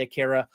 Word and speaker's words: Akira: manga turned anime film Aara Aura, whatever you want to pronounce it. I say Akira.